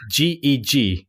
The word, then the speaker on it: GiG: I think it's like GEG, like actually reading the letters out.